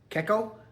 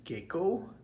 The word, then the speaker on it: Keko: This is Keko or Keko. Keko or Keko. Rhymes with gecko, like the lizard.